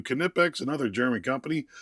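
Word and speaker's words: Knipex: Kipex, another German company. I'll give you the K because the K is there and I think it's dumb that we put that K in our language.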